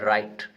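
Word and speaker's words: write: Letter in the word राइट। इसको पढ़ते हैं राइट, इसके अंदर साइलेंट लेटर कौन सा है, तो देखिए इसमें डब्ल्यू साइलेंट होता है। ठीक है, राइट। ठीक है, राइट बोलते हैं इसको।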